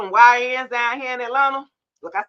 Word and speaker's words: Atlanta: See, Atlanta, if you from here, you don't you don't pronounce it with a T. It's just Atlanta.